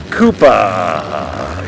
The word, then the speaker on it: Koopa: I'm not sure that's the way he spells his name exactly, but Koopa is how it's pronounced.